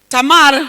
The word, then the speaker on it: Tamar: Tamar ndiuka nĩguo rĩ pronounceagwo, arĩ mwarĩ wa Daudi.